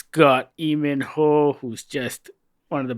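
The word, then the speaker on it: Lee Min-ho: Did you say Lee Min Ho? Yes, you're not supposed to pronounce the L.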